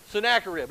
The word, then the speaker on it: Sennacherib: Sennacherib.